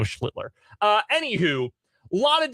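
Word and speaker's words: Schlittler: Um, I said I'm thinking of Art Schlitter, obviously Cam Schlitler.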